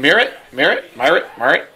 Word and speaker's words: Miret: Miret. It's Roger Miret. Miret.